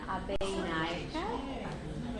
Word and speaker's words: Abeynaike: It's Abeynaike. It's a very Sri Lankan Sinhalese because Sri Lanka has 4 different groups.